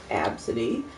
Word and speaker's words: Abcde: the several weeks ago she and daughter absentee pronounced absentee is spelled ABCDE we're boarding a plane at